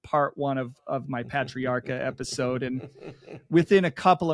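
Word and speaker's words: Patriarca: I hear uh patriarcha I hear lots of people say Raymond patriarcha pay pay and I have so many people that are like it's not pay it's p patriarcha and I'm like really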